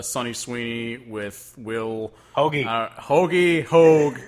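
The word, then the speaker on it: Hoge: They said Hogue on the Whiskey Riff podcast. I still say Hodge because it's spelled like Merrill Hodge from ESPN. So, and that's our name, so woo. So I say Will Hodge.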